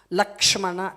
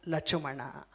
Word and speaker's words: Lakshmana: Lakshmana, to pronounce it's difficult. Lachumana is easy for tribal people. And that's why it is known as Lachumana.